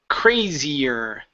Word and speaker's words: crazier: Let's go to crazier. Okay, so focusing on that ear at the end.